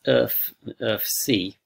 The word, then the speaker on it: erfc: so the error functions um pronounced earth of c are defined as follows